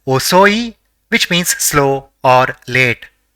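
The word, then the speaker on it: おそい: The first character in the word is O, the second is so, and the third is E. So it will be pronounced as osoi which means slow or late.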